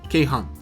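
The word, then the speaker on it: 鶏飯: 鶏飯と書いてケイハンですね。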